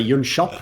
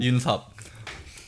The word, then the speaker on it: Yun Sop: Listen, Yun Sop. What up, Duncan? Or except you call it Yun Shop, right? How do you say your own name? Yun Sop. There you go.